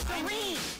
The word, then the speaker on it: Serene: Serene. Serene rhymes with Arlene.